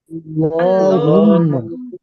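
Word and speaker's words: اللهم: এটা হচ্ছে আল্লাহুম্মা। কি লেখা আছে এখানে? আল্লাহুম্মা এই আল্লাহুম্মা। লামটা মোটা হবে, যেহেতু শুরুতে জবর আছে।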